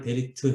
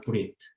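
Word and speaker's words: ברית: 그러니까 사실은 우리가 익숙한 말로 하면 그냥 바알 베리트 해야 되는데 뭐 이 발음에 더 충실한 것 같아요. 바알 브리트.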